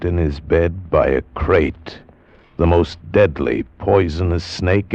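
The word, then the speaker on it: krait: of a snake a crate is first the crate you spell it k r AIT T they're in India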